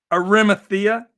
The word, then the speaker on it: Arimathea: Joseph of arithmetic uh I never pronounce these things right Arimathea Joseph I believe is the way it's pronounced now he was wealthy